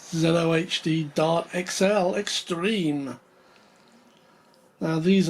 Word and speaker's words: ZOHD: in the new year i've heard this pronounced in many different ways i've heard zood zod zedo hd it's uh zelo hd dart xl extreme now